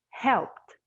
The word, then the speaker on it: helped: Alexandre, in here, we will pronounce it as a T. So help it becomes helped.